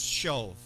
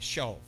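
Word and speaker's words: שָׁוְא: Now, in the Hebrew, that word is shov. It's like, if you want to pronounce it, it's S-H-A-W-V, shov, okay?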